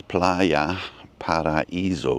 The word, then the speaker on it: Playa Paraíso: It's Playa Paraiso because there's a little accent over the I.